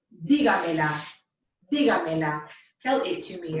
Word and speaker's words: dígamela: It should be pronounced dígamela.